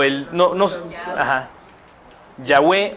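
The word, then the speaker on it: Yahweh: el no no aj yahwe O Jehová es lo mismo pero se le llama la tradición yahua porque así se pronuncia en hebreo Esta es del siglo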